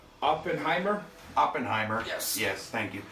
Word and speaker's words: Oppenheimer: I think it's pronounced Oppenheimer.